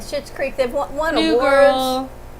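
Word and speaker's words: Schitt's Creek: do you do with your hair it's from shit's creek if you watch it shit's creepy you shouldn't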